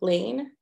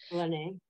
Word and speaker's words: Lene: and I'm probably gonna say her name wrong also, Lane from Empower, from the clerk's office. Lene. Yeah, Lene. Oh, is it Lene?